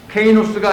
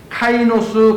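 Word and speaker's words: καινός: 케이노스가 아니고 카이노스 가죽 부대에 담아야 한다.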